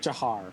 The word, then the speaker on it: Jahar: jar is not there is that how pronounced jar or jahar yeah it's like jahar jahar okay yeah but he's